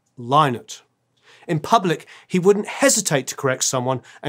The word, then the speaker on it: Lynott: than anything else was people mispronouncing his name. Fans, journalists, broadcasters, nearly anyone saying it aloud frequently mistook it for Lynott instead of Lynott.